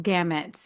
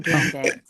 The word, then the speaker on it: gamut: Run the gamut. It's gamut, not gambit.